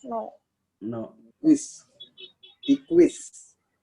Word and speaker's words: equis: Equis.